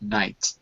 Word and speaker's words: night: h n g HT the G H is silent in the word night it's silent at the